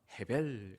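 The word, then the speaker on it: הֶבֶל: 아닙니다 자이 헛되다란 단어는 히브리어 언어로 에벨인데요 창세기 4장의 아벨 아벨과 같은 단어입니다 여러분이 아벨이란 사람도 히브리어로 발음하면 헤벨 같은 단어입니다 여러분 아벨은 아담의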